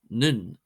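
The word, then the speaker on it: nDún: The letter D, this becomes ND and is pronounced as an N sound. For example, dun, dun, dun, meaning fort, becomes nun, nun, nun.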